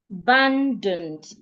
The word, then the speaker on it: abundant: So the vowels in the first and the last syllables are articulated as a schwa. Abundant.